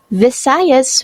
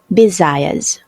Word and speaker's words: Visayas: part of the sentence visayas was mispronounced as bisayas luzon is the largest